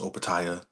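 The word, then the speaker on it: Opetaia: And the people now it's talks to him fighting, going to heavyweight fighting Usyk, fighting Jai I think it's pronounced Opataya, the other current within the cruiserweight weight class, the other title holder.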